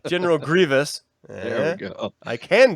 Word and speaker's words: Grievous: You are always saying his name wrong. General Grievous.